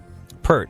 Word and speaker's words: Peart: Peart, like the boobs you're going to see in giant 3D when you go watch Game of Thrones in 3D IMAX. Neil Peart.